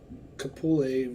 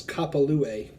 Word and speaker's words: Kapalua: one I don't well I'm saying Kapali wrong it's kapalua that's what I said